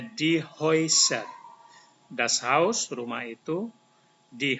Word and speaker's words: die Häuser: A umlaut dan U ini dibaca OI. OI. Jadi ini bacanya die Häuser.